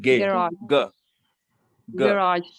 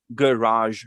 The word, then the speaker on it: garage: cards in the garage garage not gay garage okay just garage garage is good raj raj is like the stress is on raj garage okay there are three